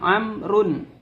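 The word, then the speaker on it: عمرو: Nah, kalau amr itu menggunakan wawu, itu kalau ada tidak berharokat, berarti kalau ain, mim, ro dan wawu ini bacanya amrun. Kalau tidak ada wawunya itu bacanya umaru.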